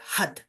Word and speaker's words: Har: but we pronounce it HUD so you're flicking your tongue off of the roof of your mouth when you do this and we are where'